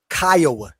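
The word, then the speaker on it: Kiowa: That the Oklahoma Theas are they Kya, not Kioa.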